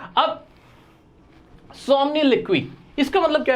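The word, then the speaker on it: somniloquy: अब सोमनिलिक्वी, इसका मतलब क्या है सर? एक तो प्रोनाउंसिएशन बड़ा अजीब सा था इसका। हाँ भाई, यही प्रोनाउंसिएशन है, मैं गलत नहीं पढ़ रहा हूं, याद रखना आप भी।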